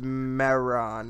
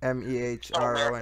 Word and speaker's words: Mehron: I get the, I think it's pronounced Mehron. It's like Mehron.